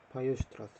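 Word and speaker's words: Weierstrass: 이걸 이제 아마 볼자노 와이슈트라스 바이오슈트라스 참 바이오슈트라스 이게 뭐 이제 영어 발음은 와이어지만 독일 발음은 바이오 이게 약간 비슷한 걸로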